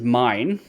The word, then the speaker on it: Myne: Because her name is Mine, right? Spelled M-Y-N-E, but pronounced M-I-N-E, and the show spells it M-A-I-N.